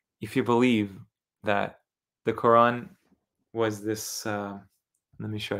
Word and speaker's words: Qur'an: The people read Qur'an, the Quran. If there's no markings there, if there's no Hamza, you can't even pronounce Qur'an. Okay? You can't pronounce Qur'an without Hamza. It would just be Quran, Quran.